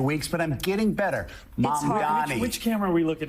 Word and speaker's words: Mamdani: And my apology, I apologize for mispronouncing your name for the past few weeks, but I'm getting better. Mamdani.